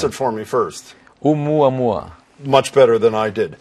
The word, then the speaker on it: Oumuamua: Pronounce it for me first. Oumuamua.